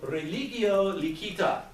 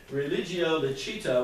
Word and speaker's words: religio licita: The Latin that I learned was classical Latin, or really better, Germanic Latin, because that's where I grew up. And we would pronounce it religio licita, but it means what you think it means, licit religion.